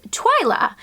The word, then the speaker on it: Twila: girls that we love is Twila actually it rhymes with aiyla Twila I heard this